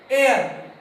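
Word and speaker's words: heir: यहां पर आ जाओ, एयर। यहां पर ये हेयर नहीं है, एयर है, एयर, एयर, हवा वाली एयर नहीं, एयर। तो जो एयर है यहां पर भी एच जो साइलेंट है, इसलिए हम यहां पर क्या करेंगे, एन लगाएंगे।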